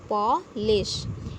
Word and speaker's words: polish: Okay, so first word is polish, and we pronunciate it like paw, P-A-W, paw, L-I-S-H, polish.